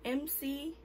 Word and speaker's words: Emcee: And today I will be reacting to, I think it's pronounced MC. I'm not sure. I think it's like a play on words, like MC, like with the mic, MC.